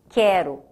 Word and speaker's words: quero: Por isso que é diferente quando eu falo, por exemplo, quero. Eu grafo o U, mas ele não tem som.